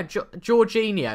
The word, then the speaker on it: Jorginho: Jorginho, that's right. Is it Jorginho or Jorgi?